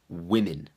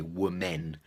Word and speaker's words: women: men's men and the plural of woman is women not women's the pronunciation it doesn't look like it should be pronounced like that people look at it and they say were men were men but now the pronunciation is we